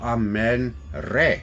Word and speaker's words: Amun: because if you take Amun ra or a man as you should pronounce it he didn't create our